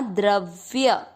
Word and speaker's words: द्रव्य: द्र का अर्थ हुआ द आधा और र पूरा। आधे व के साथ य पूरा द्रव्य।